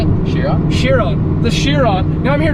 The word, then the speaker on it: Chiron: Chiron.